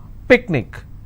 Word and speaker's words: picnic: will stress on ma picnic i will stress on pick let me bring this